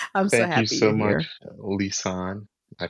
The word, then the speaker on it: Lisane: Thank you so much Lissan. I pronounced it the right way.